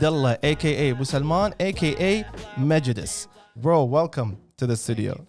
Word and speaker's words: Mejudice: It's pronounced Mejudice. Okay. عرفت? Because it's Latin. Okay. Yeah, but I went with Mejudice. It just sounded cooler at the time.